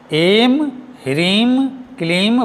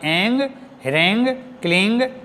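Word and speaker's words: ऐं ह्रीं क्लीं: अनंत नाद है य यह सही में एम रीम क्लीम बोलकर उच्चारण होता है और करना चाहिए ना कि एंग रंग क्लिंग यह नहीं है समझे और इन दो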